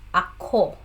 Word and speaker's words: ako: let's elaborate the word ako. Part of speech, it's a personal pronoun. Pronunciation, it's a two-word syllable. So the stress is on the second syllable. So ako.